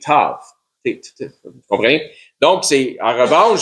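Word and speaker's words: ת: Bien sûr, le Tav, dans sa prononciation, se prononce en utilisant la consonne T, Tav.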